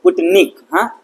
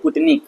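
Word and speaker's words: Sputnik: नाम है पंटन हा पुटकी भी बोल सकते पुट निक एस साइलेंट है पुट निक जो हमारा फर्स्ट है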